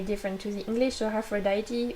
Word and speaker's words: Aphrodite: to the english or aphrodite we just say afrodit we say it differently but it's still spelled the same so for you english